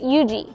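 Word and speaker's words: Huger: for example pronounced lree and this street is pronounced Yuji this street is pronounced vandr this street is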